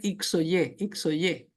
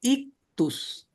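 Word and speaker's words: ἰχθύς: Bolivia, en Honduras, pero en Ecuador decían xoy xoyé, porque si lo vemos en español diceeno, ¿verdad? Estamos, pero eso es una escritura griega, ¿okay? Y no se no se dice, ahí dice ictus, ¿okay?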